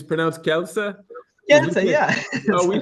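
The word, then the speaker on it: Kielce: we say we say Kelsey oh it's Kela oh great polish I didn't know that great well you just only his Kela and we add I between K and E so that's the only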